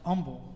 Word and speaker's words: Humble: is actually right but it's pronounced humble the H is actually silent well what the L